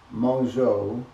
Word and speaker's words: Mongeau: E-A-U in French is O, not E.